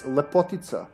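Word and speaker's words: Lepotitsa: So it's Lepotica would be how you pronounce it, and we wouldn't spell it with TS. It would be a C, but I guess they did it so people wouldn't pronounce it as Lepotica.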